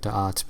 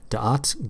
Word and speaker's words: da'at: And da'at is, it's D-A apostrophe A-T, so I'm only pronouncing it da'at because I have no freaking clue how to pronounce it, and I don't want it to sound like dot.